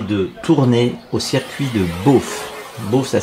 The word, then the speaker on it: Bauffe: en belgique près de tournai au circuit de bof bof ça s'écrit bea a eu ff que c'est entre